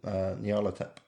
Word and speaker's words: Nyarlathotep: I pronounce it Nyarlathotep.